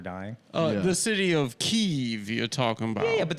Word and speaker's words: Kiev: just wanted you and of course the correct pronunciation is keeve you're going to make adam intro himself the